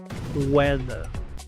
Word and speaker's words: whether: Weather. Esta palabra se pronuncia weather, porque se pronuncia la w como u, la h es muda, luego se pronuncia la